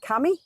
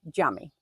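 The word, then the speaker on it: cami: So your mosques are look like this they're spelled like Cammy but they're actually jammy.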